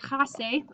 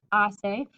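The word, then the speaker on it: hace: from the verb assail remember the h is silent so please don't say hasse it's assay i'll be a question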